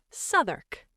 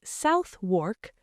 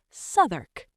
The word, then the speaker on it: Southwark: Number 4, Southwark. This is near the south bank of the Thames. It looks like Southwark, but you say Southwark.